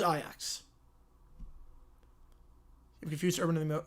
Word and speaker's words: Ajax: No, that's how Ajax is pronounced. In the Netherlands, it is. You know, I don't know the one in Ontario. I don't know how that one's pronounced. But the club, I was pronouncing like the club in the Netherlands. That one is Ajax.